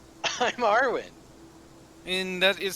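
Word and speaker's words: Arwyn: me club okay what is your name i'm arwen and that is spelled uh a-r-w-y-n uh-huh first time i got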